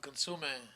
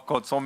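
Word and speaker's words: consommé: I dropped a whole cup of consume into a pound of RS11. Oh, consomme.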